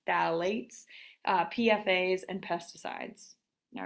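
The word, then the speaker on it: phthalates: I know that's a funky word but it's pronounced phalates uh pfas and pesticides all right so all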